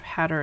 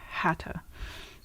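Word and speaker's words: Haigha: in the other so instead of hat or it's hata in through the looking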